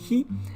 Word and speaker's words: 日: The first big one that comes into mind is just the kanji by itself, and it's pronounced as hi, and it means the sun, or day, depending on how you use it.